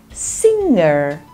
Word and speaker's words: singer: Sound in this word the G is not pronounced so it sounds like singer singer okay next one